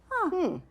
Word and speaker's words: gnu: How we have the G N pattern. So I'm gonna put my ghost on top of the G and let's read it. - (sounding out phonetically) N-U, Gnu! - Now is this the kind of new, like I have new shoes? No, it isn't.